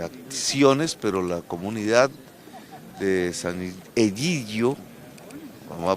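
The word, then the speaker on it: Sant'Egidio: tipo de de acciones pero la comunidad de San idio vamos a pronunciarlo bien San idio Gio es e es una colaboradora eficaz en el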